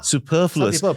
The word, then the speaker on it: superfluous: So it's a very short first syllable and it's a sustained second syllable.